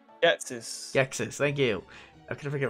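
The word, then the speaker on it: Ghetsis: Gitsis? What the fuck do you pronounce his name? Gexis, thank you.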